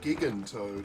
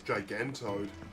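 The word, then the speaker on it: Gigantoad: in with Lady Karen so that's pronounced gigantot I I always thought it was gigantoed this place is getting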